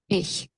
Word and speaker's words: Ich: ওকে, তো এই জায়গাতে একটু কেয়ারফুল থাকেন, এখানে যতগুলো উচ্চারণ আছে একটা জায়গাতেও নাই। ওকে, দেখেন তাহলে। Ich.